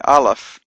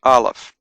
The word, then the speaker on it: Aleph: So that's Aleph. It's a silent letter, but it can take on a vowel sound, A, E, I, O, U, depending on the dots and dashes that are added afterwards. Bet has a B sound,